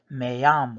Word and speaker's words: me: the first word is pronounced may like the month it's spelled me but you pronounce the e at the end with an a sound like you would in